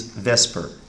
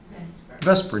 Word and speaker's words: VSEPR: chemistry that does it the common pronunciation of VSEPR theory is Vesper Vesper just you know he's your Vesper theory so basically there are